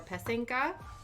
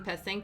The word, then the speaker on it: Pysanky: And I kept pronouncing Pysanky wrong. I kept pronouncing I put the wrong emphasis on the right syllables. So I don't know if it's Pysanky. I'm pretty sure it's probably still wrong, but my interpretation of what he told me, it's Pysanky, or Ukrainian Easter eggs.